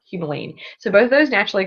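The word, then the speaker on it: humulene: It also contains alpha humumine or excuse me it's alpha humalene. I can never say it right. It's alpha humolene.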